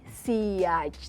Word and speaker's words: sillage: Oke, jadi SPL, S itu dari Siage, tulisannya SILLAGE, tapi dibacanya Siage gitu.